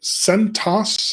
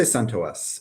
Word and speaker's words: CentOS: So is it CentOS? Like, what's the official pronunciation?